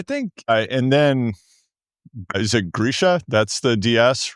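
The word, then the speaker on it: Grischa: I think, and then is it Grisha?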